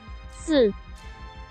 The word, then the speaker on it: 四: It is in Chinese that 4 is pronounced as 四. Which is similar to 死亡, the word for death in Chinese.